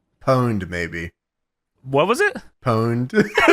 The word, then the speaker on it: pwned: Pwned. The P is actually an O, James.